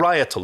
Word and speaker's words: parietal: Parietal lobe, I think it's pronounced.